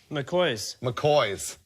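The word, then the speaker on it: McGaughy's: Dave, how do you say McGahey's? McCoy's. Seriously? Yeah. Apparently that's McCoy.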